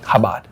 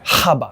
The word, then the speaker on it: Chabad: kabad of YouTube kabad CH is you don't even pronounce the C it's just kabad or kabad habad oh there you did